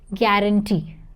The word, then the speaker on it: guarantee: Don't say E, you have to say A. Guarantee.